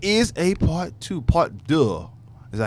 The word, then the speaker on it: deux: Part deux. Is that how you say part it? deux. But I don't know how to say it in Spanish. It's French. In French, Deux.